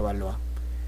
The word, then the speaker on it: Valois: es felipe sexto valor se escribe va lo hizo pero se pronuncia valor porque el hermano de